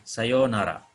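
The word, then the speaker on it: さようなら: ini ucapan sapaan perpisahan Sayonara ini bunyi panjang ya yo pakai yonara kalau Sayonara mungkin selamat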